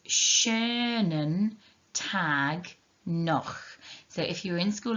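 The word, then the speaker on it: schönen Tag: what we say it's shernan tag so if you're in school last week and you were there for the pronunciation if you see we've got the sch sound making a sh sound then we've got the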